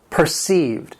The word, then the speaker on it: perceived: It has 2 syllables and the stress is on that second syllable, perceived.